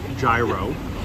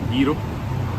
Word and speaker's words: gyro: So, in America, of course, we always pronounce it gyro, like a gyroscope. But here, it's pronounced slightly different, gyro.